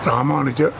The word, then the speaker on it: Ramanujar: I spell it for you: R-A-M-A-N-A-J-U-R. Ramanujar is the name of the teacher, or we call our Acharya.